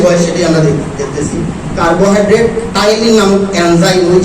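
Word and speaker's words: Ptyalin: এটা হলো উচ্চারণটা হলো টাইলিন, আসলে পি দিয়ে এটা শুরু, টাইলিন।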